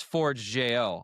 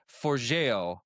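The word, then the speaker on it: Forgejo: I thought it was Forge.jo. I wasn't far off. It's Forgeo, basically Forgeo or something like that.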